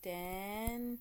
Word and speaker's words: dengue: Well, you may or may not have heard of dengue virus, pronounced dengue, but it's a viral